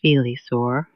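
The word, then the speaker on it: Filisur: At Felisaur, pronounced Felisaur, you step off for a snowshoe trek through forest trails known only to locals.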